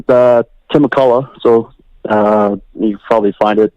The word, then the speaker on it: McCullough: Tim McCullough. MCC. Yeah. ULLOUGH. Everyone thinks it's OUGH, but we spell it OCH at the end.